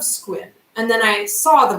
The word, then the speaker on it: Sequim: we are from squint most people who see it in our art funghi area pronounce it sequin sequin I remember okay so growing up I heard of squid and then I saw